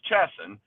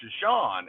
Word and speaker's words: Chesson: club and my my the easy way to pronounce my name is chesson and and and but the but the the normal pronunciation is shashan and so he was